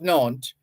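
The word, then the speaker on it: Nantes: to enjoy freedom of worship this Edict of naunt was later repealed in 1685 nant is a place name in France n-a-n-t-e-s this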